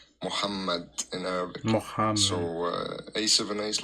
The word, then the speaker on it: Muhammad: Pronounce the uh H in Muhammad like you pronounce like I don't know how to explain it but you pronounce the H like ha. It's called Muhamad in Arabic.